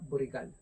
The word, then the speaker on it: Borical: Se escribe así en francés y se pronuncia burrical.